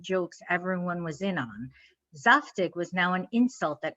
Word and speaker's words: zaftig: All this confusion is strange because Zaftig, which incidentally is pronounced more like Zaftig, does have a precise meaning.